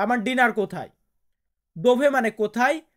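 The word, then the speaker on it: di: দোভে মানে কোথায়, লা মিয়া চেনা আমার ডিনার বা আমার খাবার। তারপরে কি আছে ডি। আমরা ইংরেজিতে বলি ডি, এটাকে উচ্চারণ করি, বাট ইতালিয়ান বর্ণমালাতে আমরা এটাকে উচ্চারণ করব দি।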